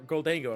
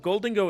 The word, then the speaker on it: Gholdengo: angle I'm like or goldo I'm like wait a minute it's golden go but I know I say goldo I can't play other deck where I'm not saying the Pokemon's name right and I said it right away gold Gango isn't something I say constantly but gold dingo is because that's the right one anyway you're going to